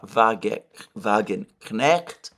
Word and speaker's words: Wagenknecht: She is, in fact, Sarah Wagenknecht. I have not been pronouncing the K. This is whereas, in fact, the K in her name should be pronounced.